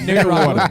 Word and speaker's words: Nicaragua: They used how you pronounce it? Nicaragua. You said it right. Nicaragua.